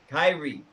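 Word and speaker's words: Kairi: He's got Asuka, Kari Sane. Did I say that right? Kyrie.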